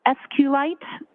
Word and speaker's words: SQLite: SQL lowercase i and sqlite uh is also commonly pronounced as SQ light so both pronunciations are acceptable now once you received